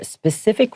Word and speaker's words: specific: Pacific, and then just add an S sound in the beginning.